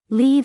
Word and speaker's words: leave: Leave has a long e e sound.